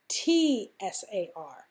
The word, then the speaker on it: Tsar: also is sometimes spelled T-S-A-R. You see it's spelled T-S-A-R or C-Z-A-R. They're both said the same way. They both mean the same thing. They both mean Tsar. They both pronounce Tsar.